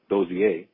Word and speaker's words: Dozie: Dooney is the girl, and Dozier, I learned how to pronounce it, Dozier.